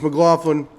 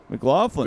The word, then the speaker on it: McLaughlin: Chase McLaughlin. McLaughlin.